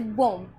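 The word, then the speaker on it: bomb: जैसे बम बम में बी हमारा यहां पे साइलेंट है। क्यों? बी से पहले हमें एम दिख गया। तो हमारा रूल्स यही है कि बी से पहले एम दिख जाए। किसी भी वर्ड मीनिंग के लास्ट में होना चाहिए। है ना? तो वहां पर हमारा बी साइलेंट होता है।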